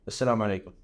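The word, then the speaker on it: السلام عليكم: I read that you always say Assalamu alaikum. For sure. How do you say it correctly? Assalamu alaikum.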